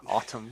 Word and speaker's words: autumn: 8-year-old self know that there was is an N at the end yeah and I'm stupid because Autumn because you just don't